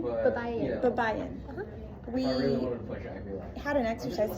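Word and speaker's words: Baybayin: Babayan? Babayan.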